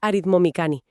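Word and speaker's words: αριθμομηχανή: Aritmomicaní se pronuncia aritmomicani.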